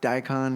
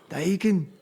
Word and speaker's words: Daikin: as a name, but now it's Daikon or Daikin. Yeah. Daikin. And you have to say it like that every time. It's the proper pronunciation.